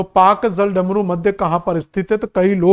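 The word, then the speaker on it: Palk: तो कई लोग इस पाक डल पाक को पाकिस्तान समझ बैठते हैं। तो पाक की एक बार स्पेलिंग जरूर बेटा पढ़ लेना कि इसकी स्पेलिंग पी ए एल के है। तो ये पालक वाला पाक है।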